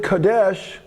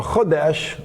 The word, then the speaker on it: Chodesh: And the word Kodesh, or Chodesh, to pronounce it properly, literally means, it's a